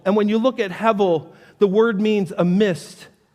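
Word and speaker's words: הבל: as he ebel, but the B is pronounced like a V. So it's the word he. And when you look at hevel, the word means a mist, a vapor, a breath, or a puff of smoke.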